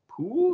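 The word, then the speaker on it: Poul: pronounce this person's name it's like pool like p o u l okay uh Anders but it's not Paul I double checked because I was like oh is it Paul no so yeah I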